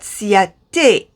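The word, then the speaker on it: Ciaté: is my siate london you see here the e has an accent on it this angle of an accent is to make it pronounced as a simple as that like you've got ace beauty and now you've got ciate that is easy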